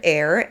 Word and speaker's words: Eyre: was directed by Richard air and I hope I pronounced that correctly but you write his surname like you write Jane Eyre you know the novel so I'm hoping it's Richard air if I butcher any